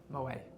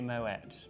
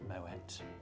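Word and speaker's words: Moët: Uh, but it is actually Moet because the French founder of the Champagne House actually has Dutch origin and so it is pronounced Moette.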